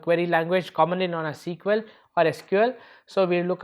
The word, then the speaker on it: SQL: So when you look at SQL is structured query language or it is called as standard query language okay normally pronounced as sequel so it is called